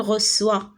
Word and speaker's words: reçoit: قلنا السي مع او شنو كتقرا؟ كو غتقرا il reçoit. والنطق الصحيح ديالها هي il reçoit.